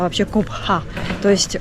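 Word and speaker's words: Cobá: То есть у них читалась вот эта вот глухая буква Х, поэтому они говорили Кобха. И давайте сейчас еще раз по карте посмотрим. Вот мы с вами прошли сейчас пирамиды группы Коба, или Кобха, как правильно мы узнали, произносится.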